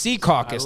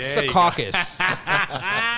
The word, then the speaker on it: Secaucus: the meadowlands caucus or seacoast c caucus not not secaucus secaucus sounds suggestive in a way c caucus sounds a little bit a little bit better that's how i know